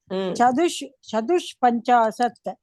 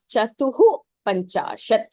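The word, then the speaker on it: चतुःपञ्चाशत्: Eka Panchashat 51, Dvi Panchashat 52, Three Panchashat 53, Chadush Panchashat 54, Chadush. You have to pronounce it as Chatuf Panchashat. Chatuhu. For now, Chaduhu. Chadusha. Isha is Chatuhu Panchashat.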